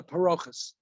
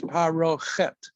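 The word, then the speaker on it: פרוכת: You'll hear it called a parochus or parochet. The correct pronunciation is parochet.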